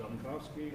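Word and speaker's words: Zelenkofske: approve the bills all second yes vote yes southern cough ski that I pronounce that right it's on the cob ski and Axelrod LLC there are auditing firm that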